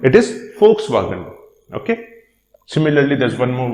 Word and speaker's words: Volkswagen: pronounced as F in Volkswagen because it's a German company, and in Germany the letter V has a pronunciation as same as that of letter F. So it is not Volkswagen, it is Volkswagen.